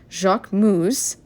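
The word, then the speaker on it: Jacquemus: I took my new little bag from Jacqu Moose.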